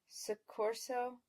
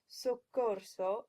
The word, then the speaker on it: soccorso: When you look at these words, keep in mind the 7 Italian vowels. That will help you get the correct pronunciations, which are rispondi instead of rispondi, avanza instead of avanza, soccorso instead of soccorso, and speranza instead of speranza.